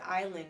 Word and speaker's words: island: Like, the word island is spelled with the S that we don't pronounce.